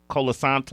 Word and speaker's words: Colasanto: Colasanto. Oh, Nicky Colasanto.